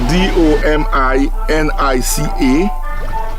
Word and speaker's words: Dominica: It is spelled D O M I N I C A.